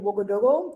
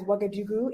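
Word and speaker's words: Ouagadougou: California and I currently live in woogo that is the correct Mo pronunciation of the city that's better known as wagadu in French and English it's the capital city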